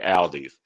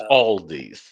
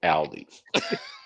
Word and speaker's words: Aldi: I pronounced that wrong. I pronounced it the Baltimore way. Aldi's. It's Aldi's. Yeah, We pronounce it Aldi's.